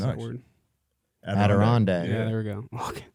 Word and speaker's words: Adirondack: I don't know how to pronounce that Nice. word. Adirondack.